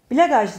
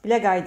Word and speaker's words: Blagaj: bir sonraki yoruma bakalım sa blagaj diye okunmuyor blagay diye okunuyor bu şey galiba bütün